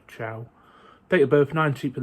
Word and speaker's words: Cho: I want to say his name is C-H-O. So Mohamed-Ali Cho, or Chow.